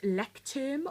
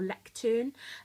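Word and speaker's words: Leuchtturm: Um oh yes, the final thing I've got in the back is a um I think it's pronounced lectern or lectern uh adhesive pen loop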